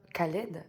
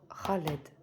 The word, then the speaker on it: Khaled: Donc surtout, ne faites pas cette erreur-là de prononcer Khaled à la française, entre parenthèses. C'est bien le Kha. C'est vraiment au fond de la gorge. Donc Khaled.